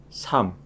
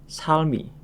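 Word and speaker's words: 삶: Rel dan mium jika bertemu dengan huruf konsonan maka yang dibaca adalah miumnya saja. Contoh sam yang mempunyai arti kehidupan.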